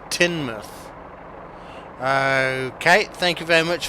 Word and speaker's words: Teignmouth: oh no it's okay most locals pronounce it tin mouth Kate thank you very